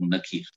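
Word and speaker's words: نكير: মুনকার একজনের নাম এবং নাকির শুদ্ধ নাম হচ্ছে মুনকার এবং নাকির কিন্তু আমার দেশের লোকেরা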